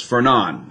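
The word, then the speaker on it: Fernand: The D is silent, so it's Fernon apparently.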